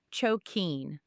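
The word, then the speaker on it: 貯金: Habit number four, choken. It's pronounced choken.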